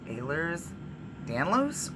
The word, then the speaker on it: Ehlers-Danlos: so I'll talk about ehlers-danlos syndrome another time so also some people say Ahlers Danlos or any variation of those two pronunciations for many pronunciations of those of that word those words I also have ADHD which